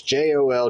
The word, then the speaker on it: Joldersma: I don't even know how to pronounce his last name. It's Joldersma, though.